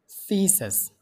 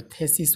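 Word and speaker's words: thesis: थीसिस, यो थेसिस होइन थीसिस हो, थीसिस, थीसिस।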